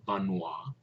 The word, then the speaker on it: Vanhoye: repeat, is Father Albert Vanois. He became a cardinal. His last name is spelled Vanhoye.